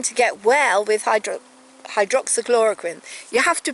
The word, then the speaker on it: hydroxychloroquine: get well with hydro hydroxychloroquine you have to pronounce it properly you have to put the emphasis on hydroxyl chloroquine hydroxychloroquine yes it will prevent it